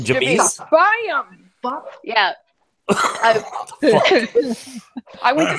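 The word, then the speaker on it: Ja'Mes: So JA apostrophe MES. MES. Jamez. James. This is James. Nope, it's a girl. Jamise. Her name is Jamise. Jamise. Yeah, you got it. It's Jamise.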